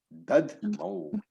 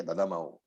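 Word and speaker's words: दध्मौ: Don't say, as I heard somebody say, Dadamau. It is Dad Mau. Half the Dad Mau Pratapavan. So all these become very important in chanting, because when you are chanting, if you say Dadamau, you are pronouncing an extra syllable, and that will break the meter completely.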